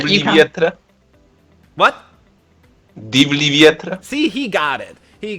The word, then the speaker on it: Divlji vjetre: Yes, we're going to talk about the song that I never know how to pronounce. And somebody wants to volunteer? No. Robert, Divlji you can... vjetre. What? Divlji vjetre.